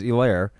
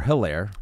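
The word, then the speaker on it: Helaire: positive was Clyde Edwards aair or hairir I just foret is silent h I think it is a little bit yes eclair uh 13 rushes 37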